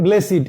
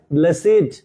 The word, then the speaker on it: blessed: আর যখন এটা অ্যাডজেক্টিভ হিসেবে কাজ করবে তখন এর উচ্চারণ হবে ব্লেসিড।